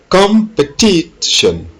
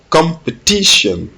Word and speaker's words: competition: And number 18, competition, competition. L'accent est mis sur le T, competition, competition.